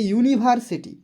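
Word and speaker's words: university: কিন্তু বলা হয়েছে গতকালকে আমি বলেছিলাম ক্লাসে যে ইউনিভার্সিটি ইউনিভার্সিটি ঠিক আছে কি হবে এখানে প্রথমে দেখো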